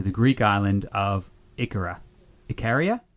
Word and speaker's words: Ikaria: Ikaria? Is that how you say it, Mark? Ikaria. Yeah, Ikaria. Ikaria. Oh, cool. That's the one.